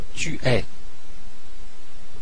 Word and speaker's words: tu es: So a friend, somebody you know, and it's tu es. Okay, and it's spelled E-S-A. So the S is silent, and I want to point out here that the E sound here is different from the je.